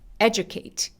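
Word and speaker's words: educate: 소리를 낼 때가 있습니다 그래서 교육하다 에듀케이트 에듀케이트 그래서 다시 한번 해 볼까요 에듀케이트 에듀케이트에 이름 전에 강세가 옵니다 자 두 번째 스케일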